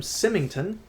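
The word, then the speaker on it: Symington: in his volume in this volume U William simmington that's how you pronounce his name on page 20 said this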